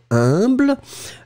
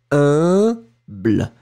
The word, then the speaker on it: humble: The other one went for humble. So remember that pronunciation of U and M together, it's a nasal, like in parfum.